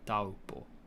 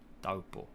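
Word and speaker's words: Taupō: It should be taupo, taupo, da u po, and then there's a macron above the. If the macron's above the vowel, then that's the elongated or stressed syllable. Dopo or dopo. And the T is a little bit more softened, like a D, like the blade of your tongue rather than the tip of your tongue.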